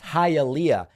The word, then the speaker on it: Hialeah: Rich says, sir, with tears in the eyes, it's pronounced Hialeah.